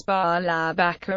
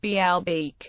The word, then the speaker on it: Baalbek: It was pronounced as Baalabaka or Baalabaku in Classical Arabic. In Modern Standard Arabic, its vowels are marked as Baalabak or Baalabek or Baalbek, the latter of which is pronounced Baalbek.